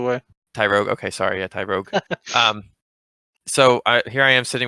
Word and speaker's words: Tyrogue: so I gave half of them to my Tyrogu, if that's how you say it, and now I have a Hitmonchan, and I got like 1500 XP, which was like 6 levels at the time. Tyrogue, by the way.